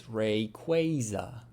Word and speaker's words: Rayquaza: also it's Rayquaza, and the Pokemon Company actually addressed this in the like World's Tournament where it was like commonly mispronounced Pokemon. It's Rayquaza.